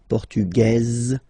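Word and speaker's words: portugaise: The Feminine form okay masculine portug you don't pronounce the S feminine form portuges you pronounce this z sound okay and then remember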